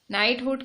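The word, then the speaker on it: knighthood: अच्छा, यहाँ पे देखो एक और है नाइटवुड, के साइलेंट है यहाँ पे। नाइटहुड की डेफिनेशन क्या होती है?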